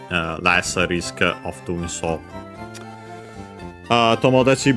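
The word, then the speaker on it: 友達: Tomodachi, by the way, becomes unaccented, so yeah, actually it doesn't respect the rule of Tachi as a suffix anyway.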